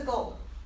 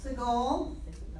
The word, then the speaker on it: Segol: Segol. Se. It's an eh.